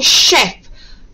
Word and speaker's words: chef: And remember, have a go at spelling chef. Chef. Now I know you'd want to write chef as SH for the sh sound, but remember we looked at the CH spelling of the sh sound.